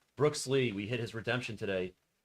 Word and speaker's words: Brooks Lee: sorry yeah I'm sorry brooksley I said it wrong Brooks Lee we hit his Redemption